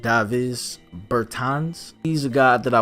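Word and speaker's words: Dāvis Bertāns: we have Davis Burton's I believe that could be pronounced dive is Burton's he's a guy that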